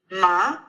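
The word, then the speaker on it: 麻: an actual word so we had ma in the first let's try in the second zone so that would be ma repeat ma good so again ma repeat ma good and ma means hemp in Chinese and let's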